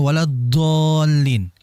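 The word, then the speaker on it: وَلَا الضَّالِّينَ: ketebalanil dan kemudian berikutnya huruf dd huruf dadnya jangan bocor ya bocor dalam artian itu jangan sampai ada udara magdubi alaihim wadin Do Jangan wad Din enggak ada Hames enggak ada udara Jadi kalau istilah saya itu bocor ya kebocoran Jadi hati-hati jangan sampai keluar itu udara ya desisan waladin dengan waladallin itu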